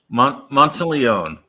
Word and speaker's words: Monteleone: Monteleone? Monteleone. Okay, Monteleone. So yeah, careful. That can kill someone if you mispronounce their name.